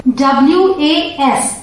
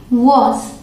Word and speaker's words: was: अब अगला है WAS, इसे पढ़ेंगे was या फिर was, ठीक है। दो प्रोनाउंसिएशन, एक को हल्का सा ऑ करके जल्दी से बोलेंगे was और दूसरा was, ठीक है।